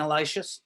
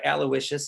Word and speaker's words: Aloysius: contemporary of parducci's right next door to saint elisha although it's just we have the i'm sorry aloysius excuse me i always mispronounce that please forgive me right next door